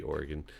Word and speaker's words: Oregon: The answer is New Jersey and Oregon that currently ban self-service stations. I've never heard Oregon said that way. Oh, Oregon? Yeah. I know, it's supposed to be Oregon, but I say Oregon.